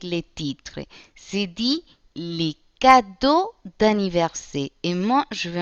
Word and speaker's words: cadeau: Por ejemplo, la palabra cadeau se escribe así en francés, se pronuncia cadeau, como lo pronunciaríamos en español, y significa regalo.